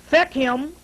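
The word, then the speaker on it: Fecham: And it says pronounce Fechem, F-E-C-H-A-M, or F-A-C-H-A-M, meaning black, or it also means wise.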